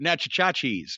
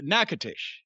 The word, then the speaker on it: Natchitoches: Yeah, that's what we used to call it when we'd drive through it, Natchitoches, but it's Natchitoches. I've heard you mention your time in Louisiana. Wait a minute, hold on. Natchitoches.